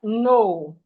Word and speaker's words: know: We have no, no. The K is silent in no, no.